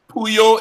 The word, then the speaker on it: Pullo: regular Titus CIT us who you is you ll o configure is pronounced like a y and lots of how